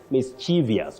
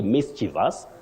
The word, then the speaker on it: mischievous: mischievous there's nothing like mischievous we don't have that in English you say mischievous and then your second